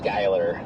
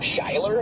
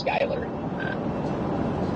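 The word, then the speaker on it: Schuyler: And I'm like, "No, it's it's Skyler." I looked at it and thought it was Sheler. You said it's Skyler. Interesting. No, it's not Skyler. I think he's lying. Yeah, the U. Just ignore the U.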